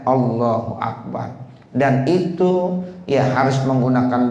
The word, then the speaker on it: Allahu Akbar: salat mengucapkan allahul Akbar kalau bacanya allahul Akbar ada Alif lamnya kan mestinya Allahu akbar begitu sekarang ada yang